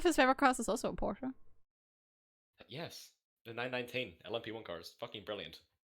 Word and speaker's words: Porsche: really like the porsche it's porsche not porsha he says at the end and i don't know